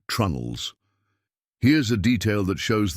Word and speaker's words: trunnels: Planks were held in place with a combination of iron nails and wooden pegs called tree nails, pronounced trunnels.